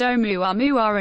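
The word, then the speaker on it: ʻOumuamua: Naturally, as the first interstellar object ever detected, Oumuamua, pronounced Oumuamua and meaning a messenger from afar arriving first, has been under intense scientific investigation.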